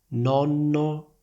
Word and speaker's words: nonno: Nonno, nono. Prendiamo due frasi. Tuo nonno è molto simpatico. Ho partecipato alla gara e sono arrivato nono. Senti la differenza tra nonno e nono.